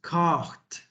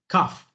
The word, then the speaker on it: cough: this word is written c-o-u-g-h cough but you do not pronounce cart you change the gh in the sound for an f we pronounce it okay cough repeat with me cough